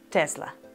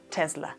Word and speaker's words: Tesla: se pronuncia con zeta tesla o se pronuncia con s tesla pues bien la correcta pronunciación de esta marca es tesla tesla y debemos hacer un énfasis en la pronunciación de la letra t esta palabra cómo se